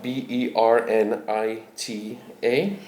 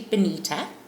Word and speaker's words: Bernita: My name is actually Bonita. pronounce B I N I T A but spelled B E R N I T A um kind of as a mistake by my father on my birth certificate.